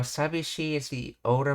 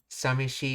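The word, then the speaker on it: 寂しい: While sabishi is the older, more formal pronunciation often found in dictionaries, samishi is widely used in spoken Japanese because it it is easier to say.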